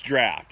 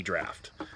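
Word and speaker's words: draught: a drought of guinness it's spelled d-r-a-u-g-h-t but it's draft it's i don't know if it's gaelic or whatever or but if you see what looks appears to be drought it's really draft um and you can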